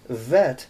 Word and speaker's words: vet: two so you've got Aleph bet vet because this is the letter V as veteran okay there you have